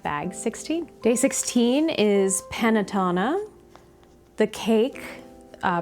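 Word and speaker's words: Panettone: Day 16 is Panatona. the cake uh pronounced Panatona, not the the paint company pronounced panone that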